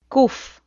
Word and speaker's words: קוף: קוף. The letter kuf sounds like Q or K.